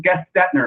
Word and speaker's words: Gestetner: So my name is from the copy inventor named David Gestetner. So that's how he basically pronounced it, Gestetner.